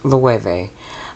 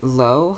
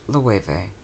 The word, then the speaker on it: Loewe: The brand is pronounced Loewe. I pronounced it Loewe throughout this video. However, it is a Spanish brand and it's pronounced Loewe.